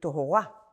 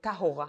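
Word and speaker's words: טהרה: These days of purification, "tahara", or it should be said "tohora", or "tahora" according to the Sephardi pronunciation, these are days when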